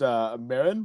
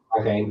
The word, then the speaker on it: Marijn: I think he kept saying your name was pronounced Marin, but I don't think he ever really tried to. Marlene. He did a lot of variations, but it's not Marijn like it should be.